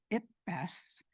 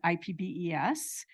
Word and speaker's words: IPBES: the results of the, I pronounce it IPBES, many people pronounce it IPBES, and other people pronounce it IPBES.